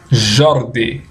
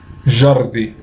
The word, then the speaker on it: Jordi: Aí agora vem com esse aqui, ó. Ordi. Ordi. E, por final, colocar o som do J. Jordi. Jordi.